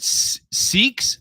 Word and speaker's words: Sikh: Is it Sikhs? I always thought it was Sikh. Sikh. They were pronouncing it a little bit different on the Fifth Estate. Yeah, they were pronouncing it Sikh. S-I-K. I always pronounced it Sikh.